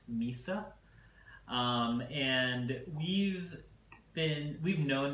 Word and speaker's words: MYSA: the new company is Mesa natural wine that's my si pronounced Mesa and we've been we've